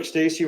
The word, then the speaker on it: Stasi: And Stasi rhymes with Dick Tracy. That shouldn't be too hard.